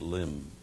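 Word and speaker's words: Lympne: us at the uh eer Mercy strip at limb airport MH limb is spelled l y m p n e but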